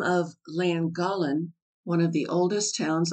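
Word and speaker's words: Llangollen: that the name of langolin one of the oldest towns on the D is pronounced flan gothland the Welsh LL being the equivalent of our THL the W which makes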